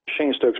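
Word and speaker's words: Cheyne-Stokes: It's called Shane Stokes breathing. And it's spelled Cheyne, Stokes, Stokes breathing pattern.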